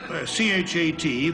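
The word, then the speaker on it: chat: Well, C-H-A-T, pronounced cha, means, Oh, I know what that means.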